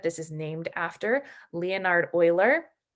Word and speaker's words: Euler: Euler is the mathematician that this is named after, Leonhard Euler. A lot of people say Euler, but that's not the appropriate pronunciation of his name.